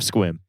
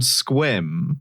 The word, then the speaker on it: Sequim: The worst part is it's not it's not spelled squim. It's spelled like sequim like a sequim dress might be. Um, and then and then minute one of joining the call, I was assaulted with the knowledge that it's pronounced squim.